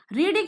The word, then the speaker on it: read: First form में हम रीड बोलते हैं, सेकंड में रेड, थर्ड में रेड, स्पेलिंग सेम होती है।